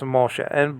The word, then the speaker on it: Moshe: Now, after that, you have a Hey, but the Hey is silent. Okay, so the H can be silent. Okay, in a Hebrew word.